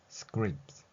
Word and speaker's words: scripts: 나지만 자음 세 개가 겹쳐 있는 pts에 해당하는 소리들이 한 번에 결합될 때는 트스 하는 것이 아니라 티가 거의 들리지 않는 소리 한자 표현으로는 무음이라 하지요 소리가 나지 않는다고 생각하시면 됩니다 따라서 scrips 이렇게 발음할 수 있는 것이죠 앞에서 원고 혹은 영화의